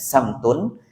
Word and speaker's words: samtun: Wasamtika itu bacanya samtun.